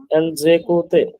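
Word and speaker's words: ils écoutent: তাহলে উচ্চারণটা উচ্চারণটা হবে হচ্ছে এল জেকুতে, এল জেকুত, এল এল জেকুত, জেকুত, এল জেকুত।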